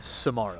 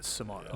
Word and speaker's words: Samaro: Justin Samaro. Samaro. It's like tomorrow, but Samaro. No rolled R this time.